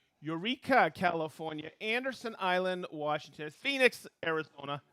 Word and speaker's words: Phoenix: california anderson island washington phoenix arizona i learned how to say it i always thought it was pohonics all right marin french